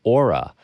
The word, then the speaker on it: OORA: On today's show, I have Federico Chiesa, who makes music as OORA, and that's spelled O-O-R-A.